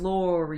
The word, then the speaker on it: Lori: let me introduce myself my name is Laura you pronounce with the Ori I always want to